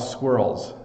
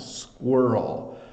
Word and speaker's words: squirrel: in Canada um and challenged to pronounce because it's it's a squ sound squirrel squirrel so a lot of letters in there making slightly different sounds than they normally would so this is a